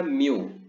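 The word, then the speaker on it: μ: बात समझ में आ रही, इसको हम प्रोनाउंस क्या करते हैं, म्यू।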